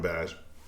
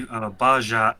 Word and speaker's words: Bajshot: got the name from, Bash. All right, so it's actually Bajshot, but you can pronounce it any way you want, truthfully, because I